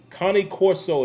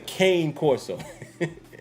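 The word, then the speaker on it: Cane Corso: say kane it's connie connie corso is how you pronounce that dog a lot of people say kane corso it's not how you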